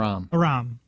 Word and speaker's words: Aram: That's the new Mossad member who's flirting with Aram. Is it Aram or Aram? Aram, thank you. I'm horrible with pronunciations in case you haven't noticed.